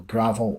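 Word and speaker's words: Gravelle: the gothic pop jeel gravel from Livingston it's spelled g r a v e l l e but is pronounced like the dirt as they say on their social media Monique Mor provides vocals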